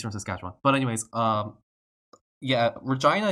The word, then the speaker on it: Regina: But anyways, yeah, Regina is what I was taught when I was growing up, like, in Canada. Like, that's how you pronounce that word when you see that word.